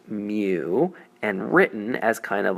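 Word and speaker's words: μ: We kind of distill this into a single measurement that we call mu, pronounced mu, and written as kind of a little cursive looking U.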